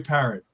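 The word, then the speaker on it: Parrott: what he was Troy parrot right yeah he one of those no parro it is just like the bird yeah just like okay it's got double it's got two T's in it that's why no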